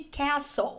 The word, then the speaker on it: castle: E atenção para a pronúncia de castle. A letra T é uma silent letter, que significa que ela é uma letra silenciosa, ou seja, ela não é pronunciada. Pronúncia correta é castle, castle. And I discovered that my castles stand.